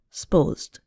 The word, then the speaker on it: supposed: Here, a two-syllable word, supposed, becomes more like one syllable, sposed.